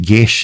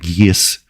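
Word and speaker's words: geas: guess spells are underused guess is how you actually pronounce that properly uh a lot of people say yes Quest they should just call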